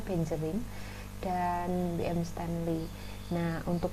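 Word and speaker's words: Beijerinck: Yang pertama adalah Adolf Meyer, ini ya, Adolf Meyer, kemudian ada Dimitri Ivanovsky, kemudian Benjering, ini membacanya Benjering, dan B.M.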